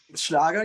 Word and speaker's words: Schlager: and you mentioned abba is schlager is that the right way to say it schlager yes but this is a